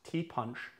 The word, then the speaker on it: Ti' Punch: Now, although it is pronounced T-I and everyone would want to say Thai, it's actually pronounced tea punch. And the T is in reference to the word, French word, petit.